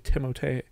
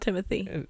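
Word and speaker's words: Timothée: timot did you know his name is actually timot no yeah it's not Timothy or Timothy well it's technically pronounced timot timot shal that's true no that's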